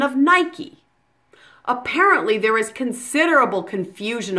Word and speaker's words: Nike: the silent final rule you actually pronounce the e at the end of the word which is quite unusual in English you pronounce it Nike as if the final